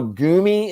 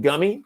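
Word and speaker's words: Gummi: there we go so we now know gumi instead of gummy tonight we now know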